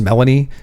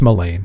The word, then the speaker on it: Melain: which you'll hear in the uh in the books pronounced Melanie. Um it's not it's melain but I mean people have their it's like Elaine but with an M on the front Main.